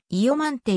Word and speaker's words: イヨマンテ: の間にわたり音の y が挿入されてイヨマンテ = イヨマンテという発音になることも多い単にイオマンテと